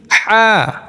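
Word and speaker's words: ح: উচ্চারণ করলে চলবে না এই দুইটি হরফ আমাদের একটু চেপে একটু শক্ত করে উচ্চারণ করতে হবে আবার বলি আইন হা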